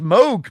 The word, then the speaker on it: Moog: I love, and it's actually pronounced Moog, believe it or not. Moog. Moog. So it's half O, half U.